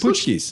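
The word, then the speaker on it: pączki: I didn't know how you pronounce it. Putschki? Putschkis. Putschkis.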